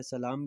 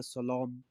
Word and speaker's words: سلام: سلام، سلام کہتے ہیں وہی جو اردو میں سلام استعمال ہوتا ہے اسی کو، تھوڑا اس میں لہجے میں لام کو موٹا کر کے پڑھا جاتا ہے، سلام کی جگہ پر سلام پڑھا جاتا ہے۔ اس